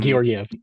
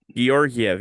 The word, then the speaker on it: Georgiev: Um, Georgiev, yeah. Georgiev, yeah, there you go.